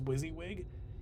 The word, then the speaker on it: WYSIWYG: tools you see this w-i-s-i-w-y-g is pronounced as wysiwyg and that means what